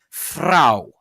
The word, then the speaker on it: Frau: And so examples in the words I previously mentioned, the word for woman in German would be pronounced Frau, or rose would be pronounced Rose, or richtig, with the uvular rolled R.